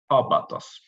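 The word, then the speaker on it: ἄβατος: So, for instance, in the word abatos, where the acute accent is placed on the opening vowel together with the spiritus lenis sign, it is this vowel that should be stressed as well, abatos.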